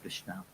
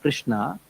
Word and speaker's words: Krishna: Krishna, in this word Krishna, there are two varnas. Varna means syllables. Krish and Na.